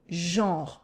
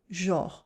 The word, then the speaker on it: genre: We pronounce it with a nasal on in the middle. Genre. It almost sounds like an o, genre, but it's genre.